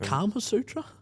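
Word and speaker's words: Kama Sutra: Isn't it Karma Sutra? Yeah, I butchered that.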